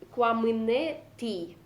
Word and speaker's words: куамынети: Куамынети. Юштолыже. Угу. Вас потом могут исправить некоторые носители диалектов. Тут, видите, в конце должна быть и твердая. Просто в северном диалекте это мягко произносится. То есть куамынети.